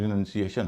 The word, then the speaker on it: renunciation: जैसे एक शब्द है RENUNCIATION, इसका उच्चारण रिनंसिएशन होगा क्योंकि इसमें 4 वावल हैं।